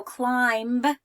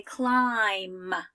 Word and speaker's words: climb: climb I don't say I want to go climb on the playground on the jungle gym I say climb right and so the eye is long but